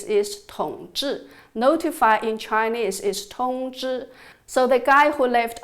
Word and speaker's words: 統治: I almost laughed at this “coincidence”, as in the Chinese language, the pronunciation of “rule” and “notify” is almost exactly the same. “Rule” in Chinese is “Tongzhi(統治）”，“notify” in Chinese is “Tongzhi(通知）”.